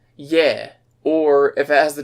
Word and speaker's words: Е: And if you see an E written in Russian, instead of it being pronounced E, it's yeah.